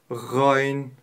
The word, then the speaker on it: غ: как мы уже отметили буква Гайн горловая твёрдая буква при её произношении мы используем только горло а для того чтобы правильно произнести Представьте себе что вы полоскает от верхней части горла Давайте вместе произнес Гай